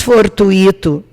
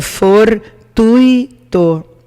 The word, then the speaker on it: gratuito: separação silábica é gratuito não se diz fortu ito o correto é for tuitou porque daí eu mudo